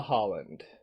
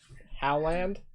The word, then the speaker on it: Howland: It's like you take how and then you add land to it. So it's just how do you land? How do you how land? Yeah, Howland.